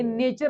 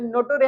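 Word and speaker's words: nature: आणि हे जे आहे, हे नेचर असं वाचायचं, नटोरे असं नाही वाचायचं.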